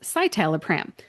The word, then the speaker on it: citalopram: Two really good examples are ketorolac, which in the dictionary is ketorolac, and citalopram, which in the dictionary is citalopram.